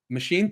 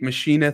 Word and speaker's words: Maschine: see is that yeah so we've got machine 3 Machina 3 there's the two ways to pronounce it 30 bucks and they've